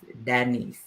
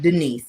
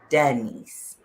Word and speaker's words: Danice: Yep, so it's Shaquita Danice, not Denise. I'm like, no, Danice. D-A.